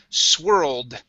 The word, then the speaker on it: swirled: This word right here is swirled. Okay. We have that ED ending. This is a D sound.